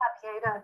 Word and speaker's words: Abyeda: What do you make of Abieda? Is that how you pronounce her name? Abieda, yeah.